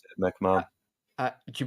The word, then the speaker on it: McMahon: McMahon. That's how you pronounce it, McMahon.